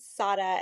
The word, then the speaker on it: Sara: It's spelled Sarah, but I pronounce it Sada, and that's a funny story.